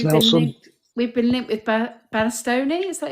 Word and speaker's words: Bastoni: Because interesting that obviously Thanks, we've been linked with Bastoni. Is that how you say his name? Bastoni, yeah.